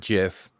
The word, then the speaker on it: GIF: peanut butter it's a gif yeah graphic not yeah it's good hard g yes good gift gif i've always said jiff you gotta understand the